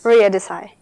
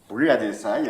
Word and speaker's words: Ria Desai: Ria Desai. Ria Desai, a student here.